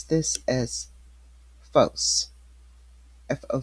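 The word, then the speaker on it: φῶς: This is 5457 and we pronounce this as fos fo c e is a phonetic spelling and it means fire and it means light.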